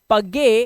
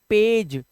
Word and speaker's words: page: इसी तरह से यहाँ पर है PAGE, इसे पढ़ना चाहिए पगे, क्योंकि ये गा है, बट नहीं, इसका जो प्रोनाउंसिएशन होता है वो होता है पेज, और यहाँ पर ये